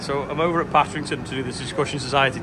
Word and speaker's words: Patrington: Partington. Partington. Oh, Patrington. Patrington. Patrington. Right, so I'm over at Patrington to do this Discussion Society talk tonight.